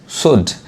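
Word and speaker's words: should: पढ़ाए उ पढ़ाए यानी श सा नहीं पढ़ेंगे श शुड अब जो एल है वो साइलेंट है एल नहीं पाएगा अ इसको सुड नहीं कहेंगे गलत हो जाएगा आने वाले वीडियो में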